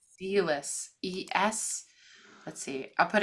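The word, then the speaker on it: Selous: How do you pronounce spell? Sealis.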